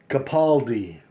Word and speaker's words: Capaldi: one Mario capid Capel I'm butchering his name I'm so sorry Capaldi that's how you say it Capaldi Mariel Capaldi art and